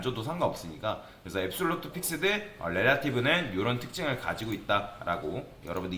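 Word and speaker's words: relative: 그 다음에 릴라티브, 그러니까 요거는 릴라티브가 아니라 정확하게는 렐라티브입니다. 발음을 좀 주의를 해야 되는데, 이 포지션 렐라티브는 그대로 유지가 돼요.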